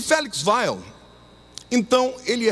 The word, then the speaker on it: Weil: importante chamado Felix Weil, ou como alguns pronunciam, Felix Weil, mas no alemão é Weil.